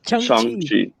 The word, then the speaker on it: Shang-Chi: He's pronouncing it in the actual Mandarin. Shang-Chi. Yes, Shang-Chi. Is that for real? Yeah, that's how you pronounce it.